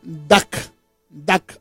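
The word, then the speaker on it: דק: palabra enano la palabra enano es la palabra tac tac así se pronuncia y esta palabra tiene muchos significados verdad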